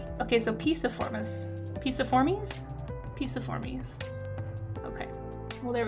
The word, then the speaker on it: Piciformes: Google pronounces it Piciform. Okay, so Piciformes.